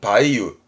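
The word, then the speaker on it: 梅雨: 됩니다 폭풍의 보훈 보훈입니다 매웁니다 매우 매우라는 거 발음은 바이유 바이유라는 건 매화가 꼬집 떨어져 이제 열매가 무르익을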